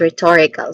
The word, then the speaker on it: rhetorical: This is again rhetorical. Stress syllable is on the second syllable to again this is rhetorical.